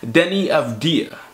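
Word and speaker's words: Deni Avdija: at number four in this big board is Denny of dear yes I said it right this time now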